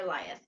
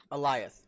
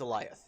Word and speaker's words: Alioth: As they pronounce it on the show, it's Alioth. Okay. Yeah. I went back and watched to make sure. It's like lion, but instead of an N, it's got a TH at the end, and there's an A in front of it.